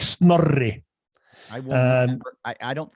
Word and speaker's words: Snorri: Snorri. Yeah. Yeah. I can't do it. I can't roll an R. No. I didn't know that was an Icelandic thing.